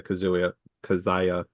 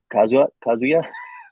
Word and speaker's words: Kazuya: If not, it just might be the Kazaya of it. Kazuya? I can't remember how to say his name. oh yeah, Kazuya.